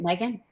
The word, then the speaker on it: Megan: And then coming this Friday, Ron and Kristy are talking to, does she pronounce it Megan or Magon? Megan. Is it Megan?